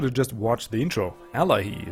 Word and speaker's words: Allayi: Allayi is how you pronounce these guys.